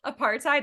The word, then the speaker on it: apartheid: times because I never say it out loud apartheid that's horrifying I'm really sorry but for people